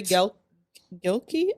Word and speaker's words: Gilkey: Corey Gilkey. I don't want to mispronounce his last name. It's Gil Key, like Key.